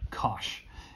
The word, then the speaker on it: cosh: the hyperbolic cosine function for short we just call it cosh and cinch okay and it turns